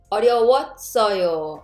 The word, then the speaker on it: 어려웠어요: But sound shift. Therefore, it will sound like 어려웠어요.